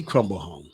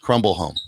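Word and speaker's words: Crombleholme: haley crumble home hey crumble home i wish i did doc are you sure that's how it's pronounced that's how it's pronounced crumble home yeah i'll spell it for you just make sure c-r-o-m-b-l-e-h-o-l-m-e okay handy crumble home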